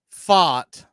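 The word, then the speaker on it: Pfaadt: of your Atlanta Braves Max freed versus Brandon fought although you will normally hear me refer to him as Fat Daddy it's PFA a DT but it's it's technically pronounced fought and your Atlanta Braves we're running the same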